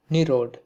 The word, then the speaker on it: Nirada: of his name footnote nirada is a sanskrit word meaning cloud being a compound of nira meaning water anda meaning giver in bengali it is pronounced nerod and a footnote had